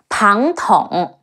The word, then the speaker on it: Pang Tong: Last time we mentioned Zhuge Liang, whose nickname is Wo Long, Crouching Dragon, but we missed, my bad, Pang Tong, Pe Ang Pang, Te Ong Tong, Pang Tong, whose nickname is Feng Chu, Fledgling Phoenix.